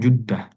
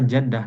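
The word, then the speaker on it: جدة: Kalau di bahasa Indonesia itu tulisannya jedah gitu ya. J E D D D D D A H Jeddah di bahasa Arab tuh kalau tidak salah juddah ya domah juddah hati-hati bisa jadi gundul ya arabnya gundul kemudian ada tulisan jim dal tamarbutah kita kira jaddah nenek ternyata juddah jedah hatihat selanjutnya ee silakan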